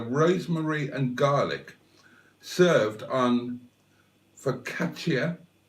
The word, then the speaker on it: focaccia: I like olive oil infused with a rosemary and garlic, served on focaccia. Is that a hard C? Double C, isn't it? It's a hard C. Served on focaccia bread.